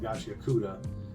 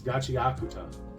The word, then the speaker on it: Gachiakuta: So, that I I was not saying it properly. Um, in my first video, I was calling it Gachakuda. Um, it's gachiakuta. So, the same same pronunciation, different emphasis on different vowels.